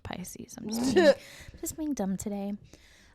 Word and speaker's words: Pisces: His date of birth was March 10th of 1948, and he is a Pickies. I know it's pronounced Pisces.